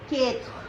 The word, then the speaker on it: quatre: This is 4, but in French we say quatre. Quatre. E is silent, and the last R is giving Kha sound, quatre.